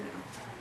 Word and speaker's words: know: Okay, this is the four-letter no. No, just no. The No. K is silent.